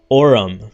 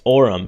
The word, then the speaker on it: Orum: Well, it's Myro in reverse, right? Orum. It's Orum.